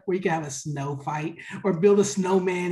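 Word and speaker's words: sneaux: we do a day it's called snow day and it's spelled s-n-e-a-u-x our cajun style of spelling and basically what we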